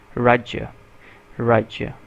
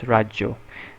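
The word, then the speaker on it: राज्य: don't know so here's rajya rajya means state okay to literally say it properly in my accent or in Indian accent it's Raja Raja in Bengali accents it's rajjo so yeah I got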